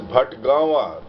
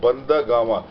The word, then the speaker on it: Bhatgawan: And folks, this is Bhatgawa. They mispronounced in the Mahaparinirvana story as Bhandagama.